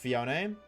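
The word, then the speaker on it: Phione: But actually it's pronounced Fion.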